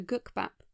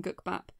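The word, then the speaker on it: 국밥: The character was named after gukbap, a Korean dish made from rice and soup. That I've probably horribly mispronounced. In Japan, gukbap is pronounced kuppa or koopa, and indeed, Japanese versions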